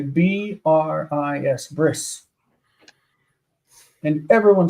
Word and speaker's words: bris: say you know for for circumcision you say b r i s bris and everyone says that that is a